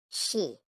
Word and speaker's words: Xi: the spleen and and X I pronounced like she which connects the whole